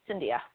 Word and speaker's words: Cindia: Is it Cindia? Yes, it's Cindia. It just rhymes with India with a C in front of it. Cindia.